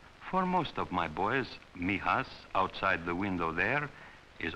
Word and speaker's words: Mijas: near the southern coast it is pronounced Mijas for most of my boys Mijas outside the window there